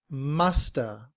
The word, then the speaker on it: must have: The upside down V is pronounced uh and so we say must have. Must have. However, in reduced form, must have becomes musta.